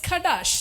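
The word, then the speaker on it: חָדָשׁ: So the Hebrew word for restoration is Kadash. Shadash. CHADASH. ഷഡാഷ് എഴുതാനുള്ള സൗകര്യത്തിന് ഖഡാഷ് എന്ന് ഞാൻ പറഞ്ഞ ഷഡാഷ് എന്ന വാക്ക്. The real word pronounced as Shadash.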